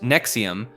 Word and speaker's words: NXIVM: NXIVM, pronounced NXIVM, was a self-described personal development organization founded in 1998 by Keith Raniere and Nancy Salzman in Albany, New York.